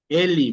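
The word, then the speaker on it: ele: memorizar, que indica que cuando la e está al final de una palabra y no lleva acento, se pronuncia como i.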